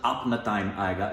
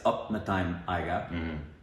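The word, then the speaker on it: Apna Time Aayega: Well, it was like not Ranveer, and it wasn't Apna-time Aiga, it's Upna-time Aiga. Did you know this? Well, we're also pronouncing, I don't know if you've seen the recent videos, but we're pronouncing Punjabi wrong.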